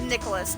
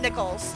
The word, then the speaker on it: Nichols: last name i apologize i thought it was a different pronunciation of nicholas not nickels i again i apologize